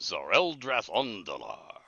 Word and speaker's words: Tzereldratondlar: I'm gonna spell this, okay? Yes. Tzereldratondlar, and it's pronounced Zoreldrath Ondalar.